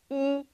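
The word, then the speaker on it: 一: weii in pinging and pronounced like the letter e except in a higher tone e when the two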